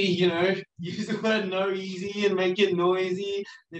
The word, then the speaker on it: NOEASY: When you're creating a body of work, are you trying to tell one story, like with Noeasy, Noeasy? What's the right way to say it? Oh, you say Noeasy.